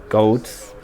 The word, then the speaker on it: Gawds: Okay, so I'm not entirely sure how to pronounce Gawds because I'm a middle-class English person, but I think the idea is Frankie and Courier blade gods, and it's got a bit of gang twang on it.